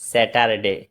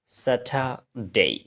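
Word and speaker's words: Saturday: একটু প্র্যাকটিস করবেন এটাকে আমরা কি বলি স্যাটারডে স্যাটারডে এটা স্যাটারডে না এটা হচ্ছে স্যাটার ডেই স্যাটার ডেই কোন একটা শব্দের শেষে যদি এই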